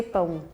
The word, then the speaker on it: pão: In Brazil, we say pão.